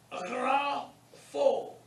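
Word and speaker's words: γράφω: Grapho. The gamma followed by the rho is guttural. And it's pronounced rough.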